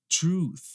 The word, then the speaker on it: truth: unvoiced TH, é esta, truth. Truth, a verdade, né? Truth. E aí aqui o problema é justamente o TH, tá? O pessoal acaba pronunciando truth, truth não é.